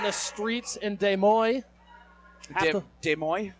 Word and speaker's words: Des Moines: streets in Des Moines Des Moines that's how you asked me to pronounce it I don't do mean